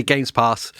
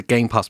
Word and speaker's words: Game Pass: Game Pass machine yeah I said it right this time it didn't say games pass yes trigger warning needed now I use it entirely as a Game Pass machine so I'm just